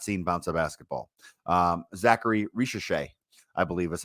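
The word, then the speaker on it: Zaccharie Risacher: Zachary Ricochet, I believe is how you pronounce that.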